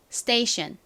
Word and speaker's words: station: 번 설명을 드렸던 것처럼 S 뒤에 t p K 등이 나오게 되면 어떻게 발음을 해 주셔야 되죠 좀 세게 된 소리처럼 발음이 나게 됩니다 그래서 스테이션이 아니라 스테이션 스테이션 이렇게 쌍디귿 가깝게 발음이납니다 자 한번 더 티